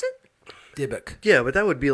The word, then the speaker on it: dybbuk: But how do you pronounce it? Dybbuk.